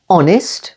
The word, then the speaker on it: honest: in some English Gardens H is always silent at the beginning of these words only air honest with the stress on the